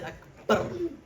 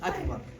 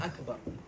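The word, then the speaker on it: أكبر: It's Akbar, okay? It's not Akbar, it's not Akbar, see? That ba, you cannot double it and you cannot lengthen it. It's just Akbar, Akbar, okay?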